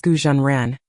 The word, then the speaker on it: Gu Zhen Ren: has another name daisu the Chinese name is pronounced as gujan ran goo is the name